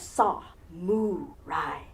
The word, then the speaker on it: samurai: first a saw not Uncle Sam saw what does a cow say moo Ry like a good reuben sandwich on rye bread if you think of it and break it down into those three syllables you have saw muai spread the gospel of